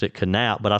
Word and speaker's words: Knap: KN A P and he pronounced the K. He pronounced it canap. It's either canap or nap, but uh hey Jinger, you can always uh you can always send me corrections.